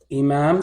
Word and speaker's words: Imam: it down inah okay Imam starts with a Hamza okay Imam starts with